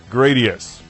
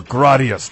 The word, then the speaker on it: Gradius: lot in common with gradius or gradias depending on how you pronounce it also from Konami in